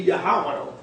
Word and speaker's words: Yahweh: the Most High, Yod-Heh-Wah, according to the ancient pronunciation. The ancient pronunciation would be Yahweh.